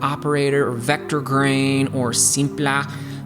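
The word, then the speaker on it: Simpler: If you're opening up Wavetable or Operator or Vector Grain or Simpla, because apparently you have to say it like that now, or Jita on the LFO.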